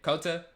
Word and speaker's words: COTA: you say again David how you say it Cota Cota yeah Cota circuit of the Americans yeah